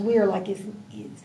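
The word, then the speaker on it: Weyr: It's pronounced Wehr like here.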